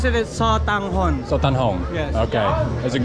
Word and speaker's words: sotanghon: Yes, this is the famous satogan. What's it called? Satogan. Satogan. What? What's it called? Sotanggan. Sotanghon. Sotanghon. You can pronounce it as Sotanghon.